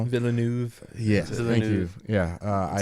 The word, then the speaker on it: Villeneuve: didn't see Arrival, but I enjoy, I can't pronounce his last name, but my man Dennis is what I call him. Villeneuve.